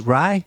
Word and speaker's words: Ray: You lived in a townland of Ray, pronounced as Rye, is that right?